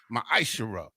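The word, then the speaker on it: מעשר: 10 means 10th and the Hebrew and it's pronounced maishara ten percent of every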